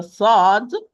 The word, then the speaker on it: ص: example, if you are going to lighten the sad, you are going to pronounce a sin. If you are going to pronounce the sin as a heavy sound, you are going to pronounce it as sad.